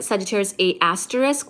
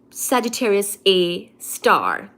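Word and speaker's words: Sagittarius A*: so it looks like Sagittarius A asterisk but it's it's not an asterisk where you get a footnote it's literally called the pronunciation is Sagittarius A star so that's the black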